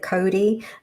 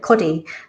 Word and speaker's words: Kodi: I know you guys pronounce it Cody, but around my area where I was living, people were calling it Coddy.